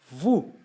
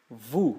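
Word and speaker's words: vous: mais corriqueiramente o vocês vu vu que nem no caso anterior então eu tenho o com u eu tenho o som de u portanto e o s não é pronunciado vu eles Olha o que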